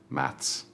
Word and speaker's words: maths: Do not forget the S at the end for British English, maths.